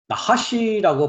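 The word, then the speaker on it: נָחָשׁ: 나하시라고 발음을 하고요.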